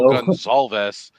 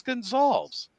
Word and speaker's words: Gonzales: to pronounce it right we went a whole like year and a half calling gonzalves and because that's how it looks and he never corrected a single soul and Larry asked him he goes how do you say your last name and he's like it's Gonzales and we're all like